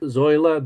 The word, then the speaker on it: Zoila: So the first book, Zoila the Zebra, am I pronouncing that Yes, correctly? yes, Zoila the zebra.